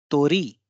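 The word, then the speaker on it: 鳥: इसी तरह से तोरी, तोरी। इसमें री पे बल ज्यादा होगा, तो पे बल कम होगा, याकी, तोरी।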